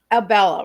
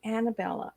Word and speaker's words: Abella: A lot of people call her Annabella, or they pronounce it lots of different ways, but it's just real simple, Abella. Instead of Bella, but it's Abella.